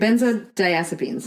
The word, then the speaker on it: benzodiazepines: Benzodiazepines. No. Sounds like Did I say it wrong? No, I think... Benzodiazepines. I think that's good.